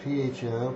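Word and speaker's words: phở: But spelled P-H-O, pronounced pho, because the spelling of Vietnamese is just a little weird.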